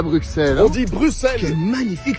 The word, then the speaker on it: Bruxelles: Ok, tu sais quoi, regarde, Bixby, on dit Bruxelles ou Bruxelles? On dit Bruxelles, gros, t'es un malade à fou.